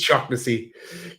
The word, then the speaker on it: Shaughnessy: Say it right. It's Shaughnessy. Get it right.